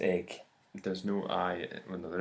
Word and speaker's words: Eigg: way oh yeah SP spell E I G but pronounced egg there's no I well